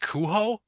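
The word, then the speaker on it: Cujo: I heard last night according to Joe Joe Hill, he said it was uh pronounced cuho.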